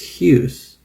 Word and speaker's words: Hughes: You're thinking that it could be anything like Muse, but it's Hughes. And Thomas is the son of Mary Gough and Thomas Hughes, Michael Gough and Betty Hughes.